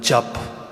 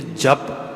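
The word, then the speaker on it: ਜਪੁ: अगे लफज आउंदा है जप। हुण इत्थे तुसीं कदे ध्यान नाल देखिओ उत्थे जप प्रनाउंस जरूर हो रहा है, पर जो राइटिंग आ वो है जज्जा पप्पा पप्पे दे पैर विच औंकड़।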